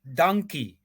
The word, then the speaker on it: dankie: you can just say dankie, Oh, not interesting. not not donkey. Not donkey. The donkey, the big animal that look Yes, like a yes. horse. Yeah. So it's not Dan, donkey, it's dan, donkey.